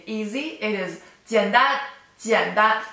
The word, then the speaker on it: 简单: So, 汉语比英语更难汉语比英语更难 Okay, so if you want to say easy, it is 简单简单 third tone, first tone, 简单简单简单简单简单简单 third tone, first tone, 简单简单简单 which means easy.